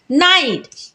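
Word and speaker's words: knight: तो क्या पढ़ेंगे नॉलेज नाइट नाइट में भी के एन से पहले आया है तो के को नहीं पढ़ेंगे तो क्या पढ़ेंगे नाइट चलिए अब जानते हैं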